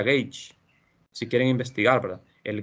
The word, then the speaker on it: gauge: se le llama gaula se escribe gauge se pronuncia gates si quieren investigar la